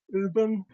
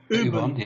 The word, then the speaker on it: Ubon: us a lot of Uben. Have I got it right, Martin? Uben. Ubon, yeah. Yeah. Ubon. He has a go at me for pronouncing it wrong.